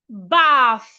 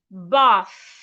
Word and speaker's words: bath: The next word is bath. Do not say bath or bat. No, because there is a H after the T. Put your tongue in between your teeth and say bath.